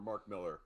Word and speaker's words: Millar: So the book is written by Mark Millar, or Mark Miller is the Yeah. actual pronunciation, but he has an A at the end.